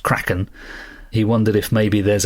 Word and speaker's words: Kraken: the the debate on whether it's Kraken cren Cen croen whatever uh Andy says surely it's pronounced craen he wondered if maybe